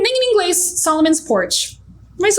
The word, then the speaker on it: Solomon's Porch: Ou a pronúncia, tipo, vai usar Solomon's Porch. Só que o brasileiro vai falar Solomon's Porsche.